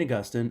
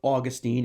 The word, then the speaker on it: Augustine: little bit about St Augustine or Augustine if you will you can pronounce it either way it's fine with me uh we're going to